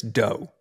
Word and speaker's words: Do: thank you very much my last name is actually pronounced Chris doe as in I was going to ask you that and then uh I figured we get it right so um it's pronounced do do like cookie do cool where's that from